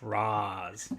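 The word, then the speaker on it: Ra's: Qasim Jabba, as someone who knows Arabic, I can confirm it's pronounced Raz. No, it can be pronounced as both. Like it genuinely can, but in the race, the character it's pronounced Raish Al Ghul. That's the only reason why we fucking call him Raish.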